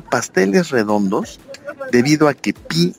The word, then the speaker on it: pi: Los americanos, los estadounidenses, celebran el día pi comiendo pasteles redondos debido a que pi en inglés se pronuncia igual que pie, que significa pastel, ¿no?